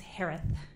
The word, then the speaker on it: Herath: maiden name s-a-n-d-e-r-s-o-n last name is pronounced like Harris with a lisp it's herath h-e-r-a-t-h hi Shay hello